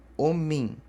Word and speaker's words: omi: Daí vocês vão lá em cima na listinha e olha, vogal nasal terminada em I. Então, tem som de in. Então, é Omin.